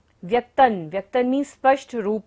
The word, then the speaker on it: व्यक्तं: व्यक्तन, त के ऊपर बिंदी है और बाद में क्या आ रहा है, त वर्ग, त थ द ध न। जब बिंदी के बाद होता है तो बिंदी का उच्चारण क्या होगा, न।